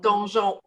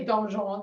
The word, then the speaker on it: donjon: Donjon. Oh, bon. Dans les donjons du château.